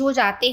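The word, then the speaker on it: rosa: ये colours number के साथ चेंज हो जाते हैं।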